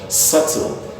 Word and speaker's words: subtle: like SUV see L it B is silent at least one is called subtle it's called subtle in a word like